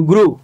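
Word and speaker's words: grew: তারা ভুল হয়ে গেছে করে ফেলছেন আসলে এটার উচ্চারণ হচ্ছে ফ্লু এফ এল ই ডব্লিউ ফ্লু জি আর ই ডব্লিউ গ্রু ডি আর ই ডব্লিউ ড্রু যেটাকে আমরা ফ্লু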